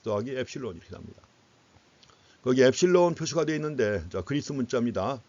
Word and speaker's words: 엡실론: 거기 엡실론 표시가 되어 있는데 그리스 문자입니다. 그리스 레러 엡실론이라고 읽어요. 엡실론.